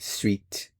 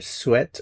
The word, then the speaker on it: sweat: Note that for the word sweat, some native speakers will pronounce it sweet. So you'll hear either sweat or sweet.